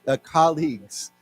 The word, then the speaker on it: colleagues: So it's not, it's colleagues. Yeah, maybe people look at it and they think of the word college, right?